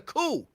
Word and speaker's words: coup: The P is silent. What? Huh? What? Cool. It was a coup, not a coupe.